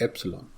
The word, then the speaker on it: ε: Actually this is एप्सिलॉन, इसको पढ़ने का सही तरीका है, इस spelling is EPSILON, एप्सिलॉन। Anyways, तो ये जो K